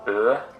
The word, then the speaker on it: Ø: Ø, Ø, Ø, it's Ø. When you're pronouncing it, Ø, Ø, Ø. What even is this fucking letter? Ø, Ø. A close to mid-front rounded vowel that comes after set in the Norwegian alphabet.